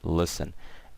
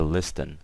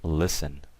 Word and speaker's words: listen: is someone listening so the word listen L I st an obviously the T is silent guys okay so we never say a listing okay we always say it listen okay now let's go